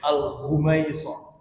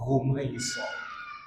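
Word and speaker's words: الغميصاء: Antum kalau rumaiso pasti ingat Ustaz Muhammad Abduh ya ketua isikal hafidahullah atau dibacanya pakai gin boleh alghumaisah. Boleh dibaca pakai ro, boleh dibaca pakai ghin. Rumaiso atau ghumaiso.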